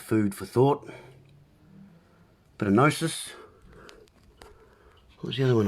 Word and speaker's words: gnosis: So gnosis, a definition of gnosis, with a silent G.